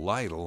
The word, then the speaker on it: Lyttle: Well, the family name today is Lyttle, pronounced by some people Lytle, I'm sure.